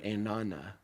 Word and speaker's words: enana: It looks on the page like ana or ena, but we pronounce it as one word, enana. So what's interesting about that is I'm looking in the text and I see 2 words, but I pronounce it as a singular word.